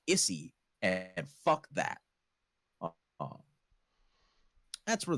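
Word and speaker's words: Isy: It's spelled I-S-Y, but I'm going to pronounce it Izzy, because it should be pronounced Issy, and fuck that.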